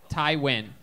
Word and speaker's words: Tywin: on the show yeah how do you say your first name the handwriting that's tie tai tai win yeah tywin okay got it so